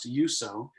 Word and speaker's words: EUSOH: know of you so it's spelled EU Soh pronounce to you so and it's an alternative